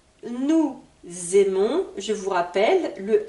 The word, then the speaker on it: aimons: aimes il aime elle aime on aime nous aimons vous aimez ils aiment elles aiment je souhaite faire quelques remarques sur la prononciation du verbe aimer très important déjà de